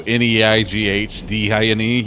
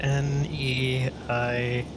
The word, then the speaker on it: Neighdine: My favorite horse name is Nadine, but the nay is spelled like nay, like a horse. Yeah. So Neighdine. Yeah. All right, Neighdine.